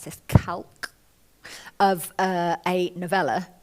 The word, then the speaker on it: calque: Fox, which I really enjoyed writing, and it's a kind of, how do you pronounce this, calque of a novella called Lady and Fox by David Garnett, A calque, sorry, can you 1922.